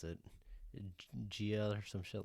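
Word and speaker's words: Jiah: Gia or some shit like that. I think it's Gia. Yeah. So J-I-A-H.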